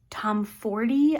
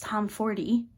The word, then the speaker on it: Tomfordy: Next up, we have Play Along by Liz Tomfordy. I have recently learned that you pronounce the E. It's not Tom Ford like I thought. So it's Tomfordy.